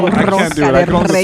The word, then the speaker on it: rosca de Reyes: Make sure you roll your R's when you're saying rosca de Reyes.